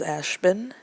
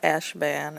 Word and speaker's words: Ashbin: Ashbin, not Ashban, Ashbin. I don't really care if you pronounced him Ashbin, because I would probably pronounce it Ashban too, because it's spelled like that. But it is Ashbin, like a bin of toys or something like that, Ashbin.